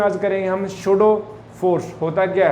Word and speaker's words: pseudo: स्यूडो force, ये पी जो है वो साइलेंट है, और बाकी जो हम इसके बारे में डिस्कशन में लेंगे आज।